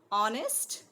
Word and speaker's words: honest: old right before words beginning with the silent h honest remember then the the